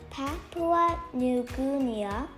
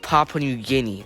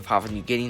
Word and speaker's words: Papua New Guinea: In third place is Patwa New Gumia, which has 3142 mm. The answer seems to be correct, but one thing is that it's pronounced Papua New Guinea.